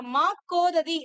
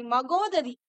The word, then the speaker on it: மகோததி: சோ அந்த ராமன் முன்பு, அதாவது முன்னாடி வளைந்திருக்கக்கூடிய அந்த வில்லினை எடுத்து பட்ட மாக்கோதி அப்படின்ற மாக்கோததி அப்படின்னு, சாரி மகோததி, தவறா உச்சரிச்சுட்டேன், மன்னிச்சிருங்க.